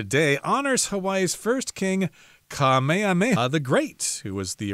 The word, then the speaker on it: Kamehameha: And let me see if I can pronounce this word here. It says King Kamehameha.